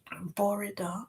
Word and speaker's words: bore da: Um, and pronounced say this as you see it. Bore. Okay. Borida. Okay. Means good morning.